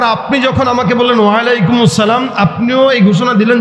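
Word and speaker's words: اَلسَّلَامُ: আপনার উপরে উচ্চারণটা বলেন, আসসালাম আলাইকুম। কোন সালাম নাই কিন্তু, মনে রাখেন, বলেন আসসালামু।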